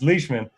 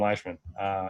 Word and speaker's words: Leishman: And then there's Leishman as the last one, or is that Leishman? So I pronounced that wrong so many times. I went on a couple podcasts, and that's what I was known for, was pronouncing his name wrong. It's Leishman. I used to call him Leishman.